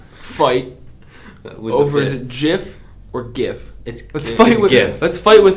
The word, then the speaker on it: GIF: It's GIF. No, it's not. You know what I do? You know, because they did it because choosy editors choose GIF.